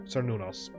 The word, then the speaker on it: Cernunnos: I'm gonna go with second syllable stress there. Cernunnos.